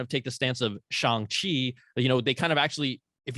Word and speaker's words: Shang-Chi: So, and that's the way they would say it in China, I believe, right? Yeah. Shang-Chi. So, yeah. I think that sounds the best. Personally, it does sound it is the right way to say it.